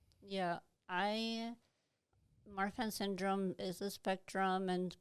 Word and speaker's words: Marfan: I mean, it's Marfan syndrome, right? Am I pronouncing that correctly? Yeah. Marfan syndrome.